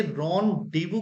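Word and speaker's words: rendezvous: च ऑफ the following has correct spelling ये रन डीवू की स्पेलिंग है दोस्तों रन डीवू सो रन डीवू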